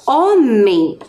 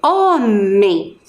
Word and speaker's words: homem: g e dos dígrafos primeiro nós descobrimos que a letra h ela não tem som lembram então por exemplo na palavra homem a letra h vai ter o som da vogal o né então homem muito